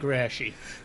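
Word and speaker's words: Raschi: But if it was just, and Vic, how'd you pronounce his name, Rashi? Vic Rashi.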